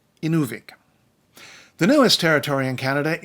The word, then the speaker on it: Inuvik: of man in Inuvialuit on Inuvik not in avec Inuvik the newest territory in